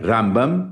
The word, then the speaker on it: Rambam: Então o que o israelense faz é ele bota o acento na primeira sílaba quando é o maimôides, então é rambam. E para falar do narmanides, ele fala ramban. Então, Ramban com N é o Nahmanidis e Rambam é Maimonides.